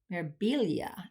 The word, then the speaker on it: Mirabilia: a nor a Nora mermaid or merab mirabilia mirabilia is how you pronounce it it's not it's not marilia it's